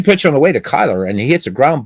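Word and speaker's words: Cuyler: of Famer Kai Kai Kyler. And Kai Kai is how you pronounce it, by the way. Uh he was asked and he said, "Yeah, my last name is Kyler. It's like Kai Kai.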